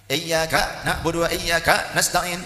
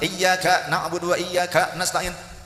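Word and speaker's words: إِيَّاكَ نَعْبُدُ وَإِيَّاكَ نَسْتَعِينُ: Ada orang membaca bagian Al-Fatihah dengan salah. Ada yang bacanya begini, iyyaka na'budu wa iyyaka nasta'in. Apa dihentak-hentak gitu, ya? Jika lagu DJ, oke DJ gitu, ya kan? Tidak usah dihentak, iyyaka na'budu wa iyyaka nasta'in. Enggak begitu.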